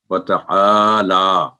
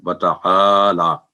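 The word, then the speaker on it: وَتَعَالَى: اس کا صحیح تلفظ۔ آگے ہے وتعالی، جو لفظ ہے وتعالی، وتعالی جدوں کا نہیں ہوگا، یہ وتعالی جدوں کا، تو واو سنگل ساؤنڈ، تا سنگل ساؤنڈ، آ کی آواز 2 سیکنڈ لمبی، اور لام پر کھڑی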